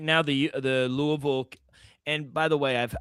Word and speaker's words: Louisville: Louisville. That's that and people in Kentucky That's how it's pronounced, Louisville.